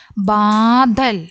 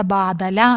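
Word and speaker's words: बादल: ആ ദുനിയാകോബി അടുത്തത് നോക്കാം ബാദൽ ബാദൽ ല എന്നത് നമ്മൾ എങ്ങനെയാണ് ഉച്ചരിച്ചത് എങ്ങനെയാണ് ഉച്ചാരണം അവിടെ വന്നത് ഇൽ എന്നാണ്ല്ലേ ബാദൽ അതുപോലെതന്നെ രാ എന്നാണ് വരുന്നതെങ്കിൽ ര മാത്രം വരുമ്പോൾ എങ്ങനെയാണ് ഇർ എന്നാണ് നമ്മൾ അതിനെ ഉച്ചരിക്കുന്നത് ഓക്കേ ലാണ് വരുന്നതെങ്കിൽ ഇൽ എന്നാണ് പറയുന്നത് ബാദൽ ഇവിടെ ബാദല എന്നല്ല വായിച്ചത് ബാദൽ ബാദൽ അപ്പനെ ജൽ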